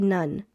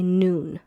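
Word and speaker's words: נון: So now whenever you see this part here like when you're reading your Bible and you see this part don't say none say noon.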